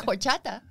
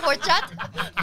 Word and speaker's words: horchata: Or like, I like horchata. What? Is that horta? Horchata? What is the difference? Can you spell it?